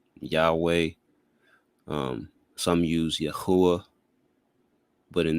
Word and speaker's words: Yahawah: The name of the Most High is Yahawah. But, people have arguments. Many use the pronunciation Yahweh. Some use Yahuwah. But in this video, I'll speak to why I believe Yahawah is most accurate.